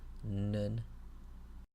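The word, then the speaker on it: נון: Next letter is the nun, pronounced like an English N, nun.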